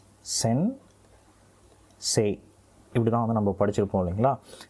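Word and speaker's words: 先生: ஆனா இந்த சே அப்படின்றது இருக்கு இல்லைங்களா அதாவது சே ஏ வரிசையில இ வந்து இணையும் பொழுது அந்த முதல் வார்த்தையோட நெடிலாவே அது வந்து உச்சரிக்கப்படணும். அதாவது சே அப்படின்னே வந்து உச்சரிக்கப்படணும். சென் சே சென்சே அப்படின்னு வந்து சொன்னாலே போதுமானது. சென்சே அப்படின்னு வந்து சொல்லணும்னு அவசியம் இல்லை.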